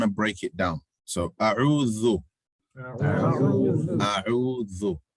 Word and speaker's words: أعوذ: So أعوذ is Hamza, Ain. The three difficulties in أعوذ is Hamza, Ain, distinguishing the Hamza, pronouncing the Ain, and while trying to pronounce the Ain, making sure you don't turn the Hamza into a Ain.